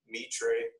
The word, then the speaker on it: Mitre: Mitre. Yes, them. I didn't know that that's how they pronounced it, to be honest with you, so that's why it took me to.